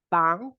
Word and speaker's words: 防: 防 would be like do re mi fa plus 防护 protection.